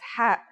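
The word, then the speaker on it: ح: Ha is the first letter of the second group, meaning that it has no counterpart in English. It sounds like the sound you make when trying to cool your mouth and throat after eating something very spicy.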